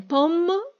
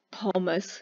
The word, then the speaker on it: Pommes: Jedni mówią pom, a inni mówią pommes. Ja mówię na przykład pommes.